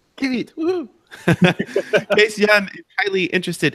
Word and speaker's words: Kiewiet: Kiewiet. Kiewiet.